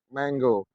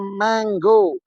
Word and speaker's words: mango: manggo Mango semuanya terdengar manggo tetapi jika ditulis bukan dengan Mango tetapi denganang Mang dibaca mengo Mango jadi mo ini yang